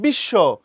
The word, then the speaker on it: বিশ্ব: আবার যখন বলছো বিশ্ব, বফলা যার সাথে যুক্ত হইলো সে ডাবল হয়ে গেল।